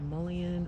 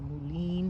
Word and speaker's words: mullein: And we have also a bunch of the flannel dock or mullein or mullein, depending on how you pronounce it.